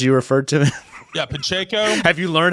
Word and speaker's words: Pacheco: Isaac Pinchenko, as you referred to him. Yeah, Pacheco. Have you learned how to pronounce his name?